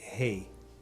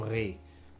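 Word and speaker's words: Rey: um autor chamado Pierre Rei os franceses falam Pierre re eles não pronunciam Rei mas a origem do nome do Pier é espanhola e o eu digo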